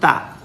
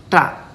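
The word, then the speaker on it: ṭa: It's not ta. It's ta. Okay, what happens here? Our tongue curls back and then tap on the upper palate.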